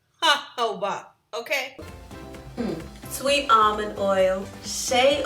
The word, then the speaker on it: jojoba: Definitely pronounced jojoba, okay?